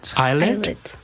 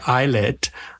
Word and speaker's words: ILLIT: and adore started with illit is that how you pronounce their name it's IET okay eyet um which is under